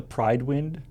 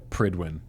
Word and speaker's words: Prydwen: someone's preston garvey also is that really not the Pride wind it's pretty win yeah wow yeah that's just how it's pronounced so yeah that was